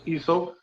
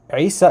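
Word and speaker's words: عيسى: So what he was saying was that that the name Isa in Arabic starts with the letter Ain, which is this guttural sound from like the throat.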